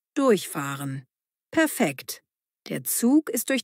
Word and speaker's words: durchfahren: Betonung: Durchfahren.